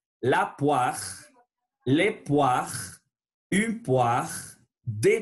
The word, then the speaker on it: poire: Voilà, c'est la poire. O-I sonne wa. La poire, les poires, une poire, des poires.